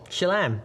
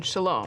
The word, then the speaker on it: Shalom: a me slam Salome she lamb you mean Shalom Shalom Shalom Shalom Shalom